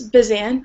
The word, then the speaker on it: Basant: the editorinchief of basant is that how it's pronounced it's bazant B bant magazine she's